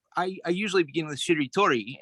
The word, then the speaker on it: shiritori: I usually begin with shiritori and that's three syllables basically she told uh four syllable right but uh then